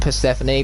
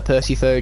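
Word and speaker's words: Persephone: phone right here and I know it's pronounced P Stephanie but as I've established every single stream I'm going to call her Percy fo just to trigger all of you fans that love pronouncing her properly man you how do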